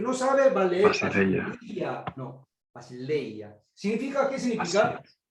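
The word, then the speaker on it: βασιλεία: Basileia. Basileia. Bien. No Basileia, no, Basileia. Y es diptongo, por eso está en el segundo lugar, pero pronuncia como si estuviera en el primero.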